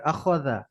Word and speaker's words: أخذ: حسد فعل حسد طلع فعل طلع أخذ أخذ أخذ খ কে পাতলা হরফ না মোটা হরফ? খ মোটা হরফ متعرف. মোটা উচ্চারণ হবে আখাযা।